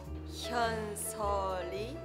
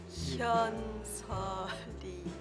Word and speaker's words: Hyeonseo Lee: Can you teach me to pronounce it right? Hyeonseo Lee. Hyeonseo Lee.